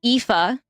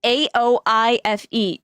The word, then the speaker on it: Aoife: How to pronounce. It's gotta be Irish. It's gotta be. Like, I met somebody named Aoife, right? It's A-O-I-F-E.